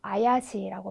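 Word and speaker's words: 怪しい: 그래서 발음은 여기에서 네, 수상하다 이런 의미를 가지는 네, 그렇죠. 아야시라고 발음을 해주시면 되겠죠.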